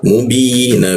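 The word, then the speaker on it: مبين: Nah binya aksennya dikuatkan. Kenapa? Bertemu ya di tengah lidah bi. Lalu ya dan nun dimatikan seolah-olah muncul bendera maka kita panjangkan di ketukan di huruf bnya lalu dimatikan ke nun. Cara membacanya adalah mubin.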